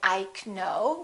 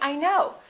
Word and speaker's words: know: you know for example in the word no the k is silent you probably already know that we don't say ike no we say i know but a lot of